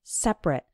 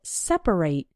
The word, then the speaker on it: separate: Now, when the word is used as an adjective, then we pronounce it like separate. For example, men and women have separate bathrooms. And when it's used as a verb, then we pronounce it separate. For example, we need to separate the clean clothes from the dirty clothes.